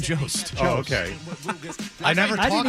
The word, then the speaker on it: Jost: Jost. You know that's not how it's pronounced, you silly goose. I swear to God, I didn't know I did something wrong. Are you serious? Are you being serious right now? It's Colin Jost.